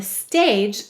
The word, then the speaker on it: stage: got up on the stage and recited a poem go ahead and say stage let's sound it out silent final e go ahead and write